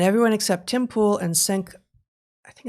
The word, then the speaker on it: Cenk: It's getting weird, and everyone except Tim Pool and Cenk, I think it's Ungar, isn't it? Cenk. So, yeah, that's spelled weird, and his Cenk.